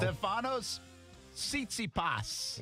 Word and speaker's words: Stefanos Tsitsipas: Stefanos Tsitsipas.